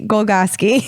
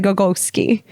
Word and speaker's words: Golgoski: he said hey guys if you'd like to have my last name spelt phonetically golgotsky you're pretty close i think last week i said go go ski because there's an o in the middle of there but he said you were pretty close and believe me i've